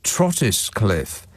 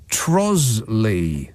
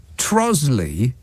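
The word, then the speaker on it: Trottiscliffe: trotus Cliff No pronounced trosly what trosley so that's more than half of the letters in there that are silent that's just absolutely ridiculous trois Cliff is pronounced trosley I don't know maybe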